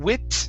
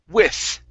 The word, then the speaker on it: with: sound here right here so instead of saying wit it's okay use a good th okay it's with with with its okay